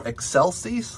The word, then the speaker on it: excelsis: in english and uh the word that you might know is excelsis like gloria and excelsios deo you might be better if you imagine it as eggshells like you crack an egg right and you have